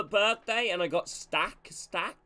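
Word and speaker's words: Stach: and I got stack stack is how you pronounce his name the German Center mid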